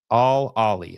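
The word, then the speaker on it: Al Ahly: absolutely got screwed uh you could pronounce it like all Ali okay all Ali the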